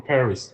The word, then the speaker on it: Paris: thing first I'm from Paris but we don't say Paris in French we say par okay we don't say Paris the S at the end of any word in French is silent so we say